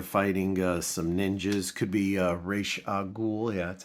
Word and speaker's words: Ra's al Ghul: Could be Ra's al Ghul. Yeah, that's how you pronounce it.